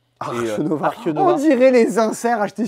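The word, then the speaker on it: Arche Nova: Pour Archenova. Archenova. Archenova. On dirait les inserts achetés sur Wish. Ouais. Mais non, mais en allemand, c'est comme ça que ça se prononce.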